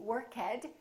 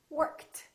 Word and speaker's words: worked: a voiceless sound so the past tense of work is not going to be workhead it's going to be worked worked let's practice a